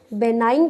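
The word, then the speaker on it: benign: तो जल्दी से हेडिंग डाल लें, बेनाइन tumour and malignant tumour. Number 1, बेनाइन tumour, ji silent होता है, बेनाइन tumour and malignant tumour.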